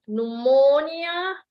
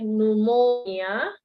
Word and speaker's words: pneumonia: good you guys uh can pronounce this pneumonia the p is silent okay pneumonia okay very good and then